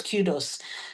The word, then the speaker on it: kudos: And I've watched a program where a British presenter said kudos, and it didn't sound strange to me because I knew that the correct pronunciation was kudos.